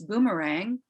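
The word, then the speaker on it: Bumarang: spell it for you it's boomerang just like you would say in australia but it's spelt b u aksangav m-a-r-a-n-g b-u-m-a-r-a-n-g rather than b-o-o so uh that's it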